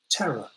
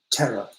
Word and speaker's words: terror: one terror tendril so we don't pronounce the r at the end of the word terror the only time we